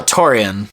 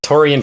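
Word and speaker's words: Taurean: go for it I'm going to let you pronounce his first name uh Toran Toran Prince so torian Prince going 14th overall this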